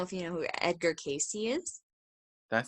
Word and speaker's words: Cayce: So yeah, I'd look into Edgar Casey. And I have a lot of books by him too. You said So Edgar? Edgar Casey, yeah. So and Casey is spelled Cayce.